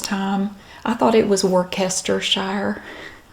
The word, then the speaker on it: Worcestershire: sour cream you also need a tablespoon of Worcestershire sauce and I also have great value Worcestershire